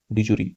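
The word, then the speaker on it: de jure: डिजूरी, ठीक है, ये डिजूर, डिजूरी, इसको डिजूरे ही बोलते हैं, डिजूरे, इसका प्रोनाउंसिएशन डिजूरे होता है, ठीक है।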